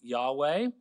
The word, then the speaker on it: Yahweh: These three features are number one, The name of the God, YHWH, often pronounced Yahweh.